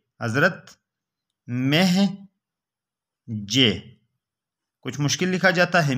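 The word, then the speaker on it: مہجع: وہ نام پوچھ لے تو نام یہ بتائیں، حضرت مہجے، حضرت مہجے، کچھ مشکل لکھا جاتا ہے، میم ہے جیم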